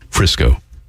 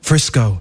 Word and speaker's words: Frisco: a piece he calls Frisco. Some say don't call it Frisco because it rhymes with disco.